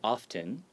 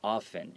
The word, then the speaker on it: often: And also the word often, even though there's a T, some people say often with the T, but you can also say it without the T, often, and both of these are perfectly acceptable.